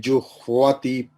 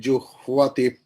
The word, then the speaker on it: जुह्वति: Apane juhvati pranam. Apane juhvati pranam. Juhvati, juhvati. Ha, half ha and va is there.